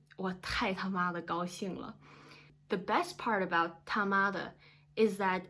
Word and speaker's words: 他妈的: Please notice that you wanna drag the middle sound, which is ma. Like normally it's 他妈的, but you should really say it like 他妈的, and it really emphasizes